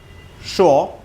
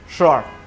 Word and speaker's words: sure: উচ্চারণটা শুরু সি দিয়ে করবেন না, উচ্চারণটা শুরু শ দিয়ে করবেন। শ। In British accent, the sound is called like sure. In American accent, the sound is called like sure.